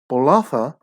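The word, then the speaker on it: Bolaca: and the headline is olympic gold medalist which is spelt b-o-l-a-c-a blood honored as fijian drawer number one right bolatha on the same uh facebook post under fiji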